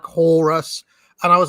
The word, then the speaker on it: Horus: Puff Daddy just says Horus to rhyme with chorus or whatever.